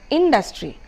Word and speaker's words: industry: The third one is again not industry but industry. So the stress is on dustry, not on dustry but on in.